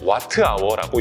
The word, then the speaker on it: WH: WH는 와트아워라고 읽고요.